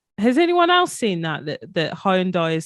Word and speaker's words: Hyundai: It's supposed to be Hyundai. Oh, no. I think that's right. I haven't seen this. Yeah. Has anyone else seen that Hyundai is saying you got to call it Hyundai?